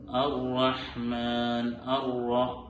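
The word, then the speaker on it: الرحمن: ഇവിടെ റാ എന്നുള്ള അക്ഷരം തഫ്ഖീമായി ഘനപ്പിച്ചുകൊണ്ട് ഉച്ചരിക്കേണ്ട അക്ഷരമാണ് റാ. അർ-റഹ്മാൻ. റാ പ്രത്യേകം ശ്രദ്ധിക്കേണ്ടതുണ്ട്.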